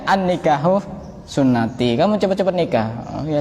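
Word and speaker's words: النكاح سنتي: Karena kitabnya tidak diharokati, dibaca an-nikahu santai. Tulisannya sama ya. Kenapa kamu kok tidak nikah? Oh, saya dulu pernah belajar, ada dalilnya an-nikahu santai. Goblok. Iya. Padahal itu bacanya an-nikahu sunnati.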